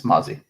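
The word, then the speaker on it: Mazi: know did I say his name right I don't know Mozzy it's Mozzy Mozzy Smith that is excellent the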